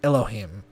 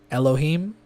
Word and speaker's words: Elohim: Hebrew letters is usually spelled and pronounced Elohim five letters are reduced to three syllables enchanting this name five